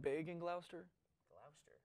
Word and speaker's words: Gloucester: Gloucester, not Gloucester. Gloucester. Gloucester. Well, it depends where you're from, how you say it.